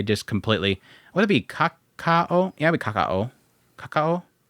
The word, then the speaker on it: Kakao: So thanks to Kako Entertainment, they just completely Would that be Kakao? Yeah, Kaka. Kakao K A K A O Kaka pronunciation.